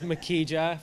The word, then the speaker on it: Makija: It is Makija, for anyone who's wondering.